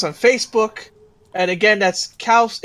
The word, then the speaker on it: Xaos: It's pronounced Chaos, but it's XAOS because at the time I thought it was cool because that's pretty much how the Greeks would spell it. Not just cows. Not cows or chaos. Just cows.